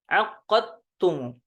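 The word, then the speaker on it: عقدتم: Aqadtum, ya. Aqadtum aqadtumu. Takhfiful qaf. Ya. Kalau dihafskan ditasydidkan huruf qafnya. Jadi kalau di riwayah Syu'bah ditakhfifkan, maka syiddahnya hilang. Ya. Aqadtumu.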